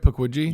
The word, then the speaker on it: Pukwudgie: Puckwgi.